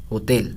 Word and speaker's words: ہوتل: خوب ہوتل کہ معلوم ہے لیکن ہم ہوٹل پڑھتے ہیں، لیکن فارسی میں کیا تلفظ ہے؟ ہوتل، تا پر زیر ہے.